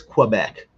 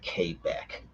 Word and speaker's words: Quebec: not zed um and it's quebec not k back they wanted to spell